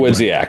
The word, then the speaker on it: Dawidziak: But, um did you happen to read Mark Dawidziak? Uh I hope I'm pronouncing his name Dawidziak. Dawidziak.